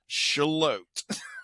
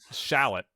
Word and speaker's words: Charlotte: I mean, it's not shallot. It's shalot.